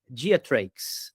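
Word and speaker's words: Greatrakes: perdoem a pronúncia, mas escreve Geatrax e provavelmente a gente diria diates, tá?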